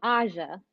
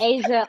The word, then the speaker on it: Ahsia: So my name is actually pronounced Aja. It's I Aja. It's okay. It's okay. I get Asia all the time since I was a little girl.